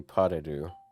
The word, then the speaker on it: pas de deux: it's probably pas de deux or some. I I mean, this is imagine the also- S is not pronounced.